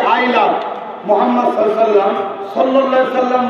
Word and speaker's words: মুহাম্মদ: আপনারা সবাই একবার বলুন মুহাম্মদ, আপনারা উচ্চারণ করুন মুহাম্মদ। খেয়াল করতে কোন নবীর নাম নিলে দুই ঠোঁটে ঠোঁট ঠেকছে, বলুন মুহাম্মদ।